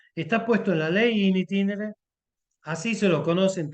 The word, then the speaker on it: in itinere: la casa del trabajo in itinere lo pronuncio en latín porque así está puesto intin o sea en el trayecto Eso significa está puesto en la ley in itinere así se lo conoce